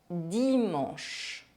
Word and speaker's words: dimanche: The letters CH make the sound sh, dimanche.